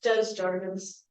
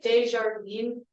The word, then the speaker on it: Desjardins: The American pronunciation is Desjardins. But your pronunciation was yeah, it's the proper way. It's like Desjardins. I don't know.